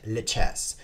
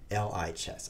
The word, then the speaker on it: lichess: So I asked the creator. I was like, creator, how do you pronounce it? And he typed back to me in his typing machine, li, as in live. I mean, lie as in live.